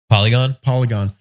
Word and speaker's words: Polygon: Polygon.